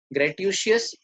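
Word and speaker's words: gratuitous: नॉन ग्रेटिशियस, इसमें श कहीं भी नहीं है, SH, पर आपको मालूम है ऐसी बनती है प्रोनाउंसिएशन।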